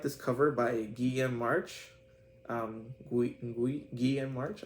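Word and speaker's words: Guillem March: Guillaume March, I think it's pronounced, because he's a Spanish artist.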